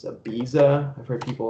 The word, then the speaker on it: Ibiza: I don't even know the right way to pronounce it. It's Ibiza.